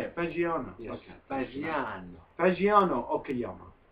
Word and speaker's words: Fagiano: Fagiano. Is that how you say it? Fagiano.